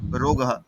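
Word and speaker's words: रोगः: ইংলিশে লেখা আছে বলে রোগা উচ্চারণ হচ্ছে। কিন্তু ওটা উচ্চারণ হবে রোগ। রোগাহা। সংস্কৃতকে রোগাহা বলে।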